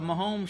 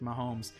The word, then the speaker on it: Mahomes: Am I even pronouncing that correctly? I think you are, because I remember for a while I kept thinking people were saying Holmes, like Holmes Road that we used to live on.